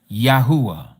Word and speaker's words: Yahuah: This is why we know his name is pronounced exactly like we pronounce the tribe. Yahudah, Yahuah.